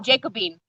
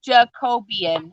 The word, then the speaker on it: Jacobean: color um jacobian and i was calling it jacobean i was like this color is jacobean and somebody had to pronounce it for me they're like um i'm pretty sure it's jacobian and i was like